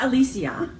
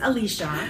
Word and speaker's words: Alicia: Alisa at yarning right how do you say her name Alisia it's not Alisia if we're all wondering it's Alicia we're the last to know